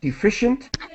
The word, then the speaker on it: deficient: just for pronunciation listed deficient with an sh sound deficient and whenever you see